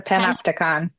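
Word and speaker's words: panopticon: The panoptagon.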